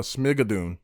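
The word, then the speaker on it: Schmigadoon!: show called uh schmidt uh how do you pronounce it the hell is final say that again uh smigadoon yes make a dune that's what it is yeah they're in a new show called shmigadoon and it the premise without giving too much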